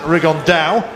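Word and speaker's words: Rigondeaux: T's talked about fighting riondo or as he's correctly pronounced with the uh Spanish accent rigon da and two absolute Geniuses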